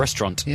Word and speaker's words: restaurant: I got told off the other day by someone for pronouncing the T at the end of restaurant. Restaurant. Yeah.